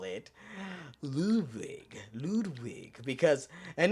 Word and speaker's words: Ludwig: Ludwig, and with a V, I remember sir memory serves. That's how you pronounce it.